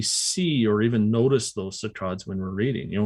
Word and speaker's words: saccades: They jump in patterns called saccades, or sometimes pronounced saccades.